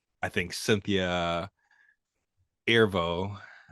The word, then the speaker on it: Erivo: I got lost in both performances, and like I think Cynthia Erivo, I believe that's how you pronounce her last name.